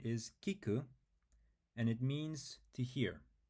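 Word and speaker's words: 聞く: we write key and then C so the pronunciation is Kiku and it means to hear or to listen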